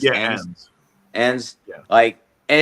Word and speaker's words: Enns: Enns? Yeah, Enns.